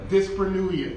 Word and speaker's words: dyspareunia: Dyspareunia. Did I get it right, Josh? Dyspareunia? Dyspareunia.